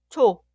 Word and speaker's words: 초: La consonante inicial ch suena ch, por ejemplo, en leche. ¿Pudiste leer esta palabra que significa vaca? So, so. Y la palabra que significa vela se pronuncia 초, 초.